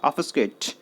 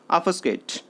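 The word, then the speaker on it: obfuscate: यहाँ पर देखिए जो बी है वो बहुत हल्का साउंड करता है और एफ से पहले थोड़ा सा हल्का साउंड होने की वजह से उसका साउंड नहीं पता लगता है कई बार। तो जब आप इसे प्रोनाउंस करेंगे तो वो ऐसा प्रोनाउंस होगा ऑफस्केट, ऑफस्केट, जिसका मीनिंग क्या हो गया?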